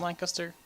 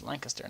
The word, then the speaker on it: Lancaster: Just like in England, Lancaster. It's pronounced Lancaster, not Lancaster. Lancaster. Pronounce it right.